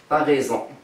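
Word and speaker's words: t'as raison: تنستعملوه مثلا تنقولوا عقلوا تا ريزون. تا ريزون، تا ريزون لا تو ا ريزون. في الكتابه تنقولوا تو ا ريزون، مي في الشفوي في لا كومونيكاسيون شي حروف ما تنطقوش نقولوا تا ريزون.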